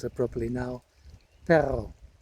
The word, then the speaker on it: perro: And then in Spanish there's a word for dog called, if I can pronounce it properly now, perro, with a double R. The R resonates.